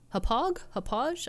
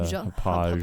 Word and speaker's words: Hauppauge: Hauppauge? I've never known how to actually pronounce that brand. I think it is that soft G, the Hauppauge.